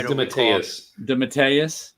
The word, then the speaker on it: DeMatteis: I think he's even said on Twitter how to pronounce it, but I can't remember. Said it was DeMatteis. DeMatteis.